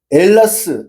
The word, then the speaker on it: 엘라스: 헬라도 엘라다. 엘라스 이렇게 돼 있는 것이지. 헬라스가 아니에요.